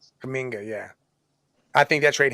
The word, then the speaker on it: Kuminga: Him or Kumanga or whatever, whatever the hell you say his name. Kuminga, yeah.